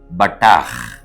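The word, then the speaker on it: בָּטַח: தினம் ஒரு எபிரேய வார்த்தை இன்றைக்கு நாம் பார்க்க இருக்கும் எபிரேய வார்த்தை பட்டா பேத் டேத் ஹேத் இந்த மூன்று எழுத்தும் பட்டா என்று உச்சரிக்கப்பட வேண்டும் இதை உயிரெழுத்துக்களோடு இணைத்து சொல்ல வேண்டும் என்று சொன்னால் பேத் காமெட்ஸ் டேத் பெட்டா ஹேத பட்டா என்பதாகும் பட்டா என்ற எபரே வார்த்தையினுடைய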